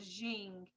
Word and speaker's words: Jing: The other thing that has to do with the internal experience of Tai Chi is called Jing, and it's spelled J-I-N-G, Jing.